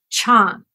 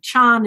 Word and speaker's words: Chan: it would be called Chan Chandra oh in some places in China Chan is is pronounced pretty much like Zen oh okay but it